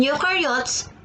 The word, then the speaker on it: eukaryotes: rhymes with no, and you in eukaryotes rhyme with do.